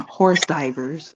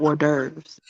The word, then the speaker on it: hors d'oeuvres: And horse divers, okay? Instead of hors d'oeuvres.